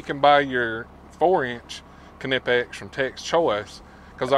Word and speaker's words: Knipex: guys okay so this is a canipex because that's how you pronunciate it connects Mr Subaru called me out on that one canipex but guys this